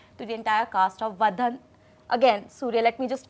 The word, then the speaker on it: Vadhandhi: Vadhandhi. It's Say Vadhandhi. Say it faster. Vadhandhi.